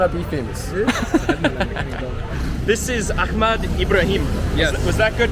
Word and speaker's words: Ahmad Ibrahim: This is Ahmad Ibrahim. Yes. Was that good pronunciation? So. So. All right, I'll take it. Actually, in Arab phonetics we have ha. It's very difficult for me to say.